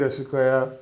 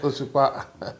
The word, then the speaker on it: Osikoya: Osikoya, popularly known as, not Osikoya.